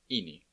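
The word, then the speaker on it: ინი: This is the letter Ini. It makes the same sound as the double E in meat.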